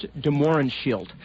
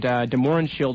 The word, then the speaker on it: de Mohrenschildt: It's a man named George de Mohrenschildt, and de Mohrenschildt is spelled D-E, then capital M-O-R-E-N-S-C-H-I-L-D-T.